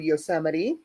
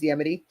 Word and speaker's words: Yosemite: we would go to Yosemite or as Emily pronounces it in uh Chrome Papi's yemity or we would go to